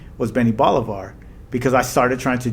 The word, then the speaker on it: Benni Bolivar: Yeah, it's supposed to be Benni Bolivar.